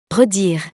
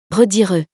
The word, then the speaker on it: redire: Redire. Redire. The first one is correct, because we don't pronounce the last E.